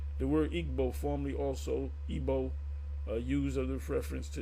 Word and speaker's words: Igbo: of the word igb they say they pronounce ebo ebo so let's see what